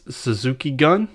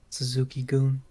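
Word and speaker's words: Suzuki-gun: house of torture versus suzuki gun suzuki goon goon it says gun i know but it's pronounced goon so again then we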